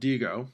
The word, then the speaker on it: Diigo: I have a website that I'm registered to called Digo, which is spelled Diigo, where I would then bookmark it using its toolbar up here.